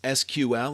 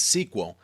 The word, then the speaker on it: SQL: Structured Query Language, SQL, pronounced as SQL or sometimes as SQL, is actually the standard language for dealing with relational databases.